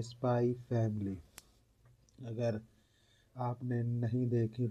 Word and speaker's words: Spy x Family: रहेगा स्पाई एक्स फ़ इसको अगर आप रीड करते तो स्पाई फैमिली होता है क्योंकि एक्स साइलेंट है।